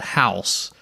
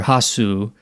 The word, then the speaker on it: Hausu: Yeah, option number A is a Japanese 1977 comedy horror film called House, or Hausu, depending on how you want to pronounce it, directed by Nobuhiko Obayashi.